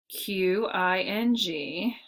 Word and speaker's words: Qing: The Qing dynasty, it looks like king, okay, Q-I-N-G.